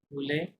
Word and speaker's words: veulent: You want to ভুলে। They want ইল এল ভল, হ্যাঁ ইলেল ভল এমন সাউন্ড আসবে। লাস্টে ওয়েন্টে সাইলেন্ট, ভলের মতো সাউন্ড আসবে, হ্যাঁ ভল।